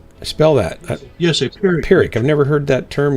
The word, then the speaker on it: Pyrrhic: He pronounced it like Gunfighter said, Pyrrhic.